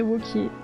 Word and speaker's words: Wauquiez: En fait, maintenant, tout le monde l'appelle Wauquiez. Mais la prononciation originale de son nom de famille, ce serait Wauquiez.